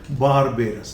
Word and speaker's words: barbarous: Vowel sound है तो British English में आर का प्रोनाउंसिएशन होता है। लेकिन अमेरिकन इंग्लिश में सभी जगह पर आर का प्रोनाउंसिएशन होता है, इसलिए यहाँ पे तो लिखा बारबेरस, लेकिन यहाँ पर है बारबेरस। हिंदी में मैंने ये र दिया है, बारबेरस।